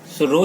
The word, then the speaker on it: rho: इसको क्या पढ़ा जाता है, रो पढ़ा जाता है। ये क्या है, रो, RHO, रो, ठीक है, H यहाँ पे साइलेंट है।